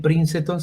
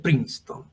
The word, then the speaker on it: Princeton: la universidad de princeton cuando lo escuchen por ahí se vienen princenton se pronuncia princeton no estuvo ahí está